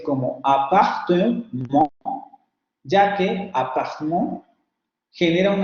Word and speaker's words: appartement: pronunciación no es tan exacta, por eso confío un poco en mí, pero aquí sería appartement, appartement.